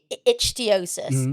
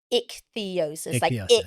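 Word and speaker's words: ichthyosis: So when I was younger, I always called it ichiosis like because you know like you pronounce all the the letters. And I think it was like a couple of years ago I found out that the other way to say is is ick theosis like ick theosis.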